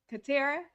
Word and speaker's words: Katarra: co-host and our production guy and we have katera did i pronounce it right yep yes our special guest